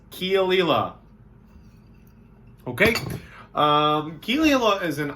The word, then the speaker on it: Caol Ila: It's like coal backwards, Caol Ila or Isla. It's Caol Ila.